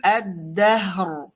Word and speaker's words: الدهر: আমরা শেষের হরফটাকে 3 ভাগের 1 ভাগ অবশ্যই উচ্চারণ করব। আদ-দাহ, দাহ, রর মাখরাজে লাগাইতে হবে। আদ-দাহর, আদ-দাহর, কেমন।